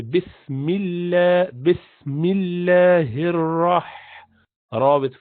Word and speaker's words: bismillah: you pronounce it simple so you do not say bismillah law you just say bismillah bismillah here or or